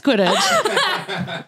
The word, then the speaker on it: Quidditch: It's Quidditch.